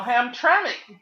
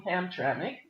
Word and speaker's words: Hamtramck: But they were talking about how now Hamtramck is popping bad lead tests.